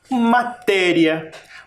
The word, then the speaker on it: matéria: Matéria. Matéria. Tem quantas sílabas?